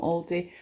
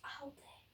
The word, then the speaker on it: Aldi: I thought it's Aldi. Did I say something else? Aldi. What do you guys say? I always say Aldi or Aldi. I just say it. People pronounce it all different ways.